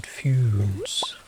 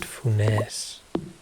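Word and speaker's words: Funès: Oh, the S is pronounced? Man, those French people, they make up their minds. So is it Foons? Is it Funes? Or is it Funes?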